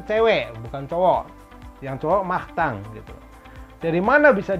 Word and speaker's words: Martin: namanya Master Oke si Martin ini yang dibacanya mah thank ini adalah nama Martin untuk orang yang laki-laki kenapa dibacanya mah thank karena ini ada kombinasi n tulisannya IMG kita bacanya Ang Nah lo emang teori